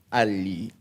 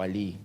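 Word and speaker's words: Allee: lo conoce como el fenómeno ALI, o ALI, depende de cómo lo quieran pronunciar, pero es L-L-E.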